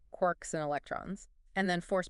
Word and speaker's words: quarks: They're made of quarks. Quarks named by Murray Gellman from James Choice. That's the story. Three quarks for mustark from Finnegan's Wake. Most physicists say it like lark, not quart.